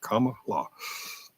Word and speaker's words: Kamala: i' I've been saying camela or Kamala I I I get tongue tight it's comma like like the like the comma Mark and law comma law people pronounce my last